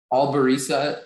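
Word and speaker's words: albariza: Alvarisa is the only pronunciation.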